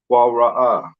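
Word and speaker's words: קָרָא: The Qua, the Ra, right? And the Ah.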